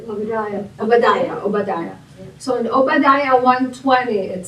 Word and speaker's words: Obadiah: Obadiah.